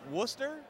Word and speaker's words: Worcester: Worcester?